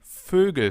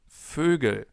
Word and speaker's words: Vögel: It appears pretty often in the plural forms of different words, like Vögel, birds. Try to pronounce an O, so the German version of an O, and then round your lips.